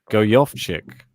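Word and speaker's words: Gojowczyk: versus and i've got the correct fantasy correct pronunciation go yoff chick there you go oh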